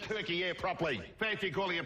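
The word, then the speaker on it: Türkiye: one canteen is figures pronounced turkey air properly thank you calling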